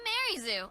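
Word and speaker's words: Arezu: I'm Arizu. I'm a warden of the Diamond Clan. Arizu. I'm Arizu. I'm a warden of the Diamond Clan. All right, so I guess we have the official pronunciation too.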